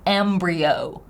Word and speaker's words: embryo: could but it's an embryo and by the way I love the transcription embryo oh D thong at the end with a stress on the first syllable Embryo Embryo the basic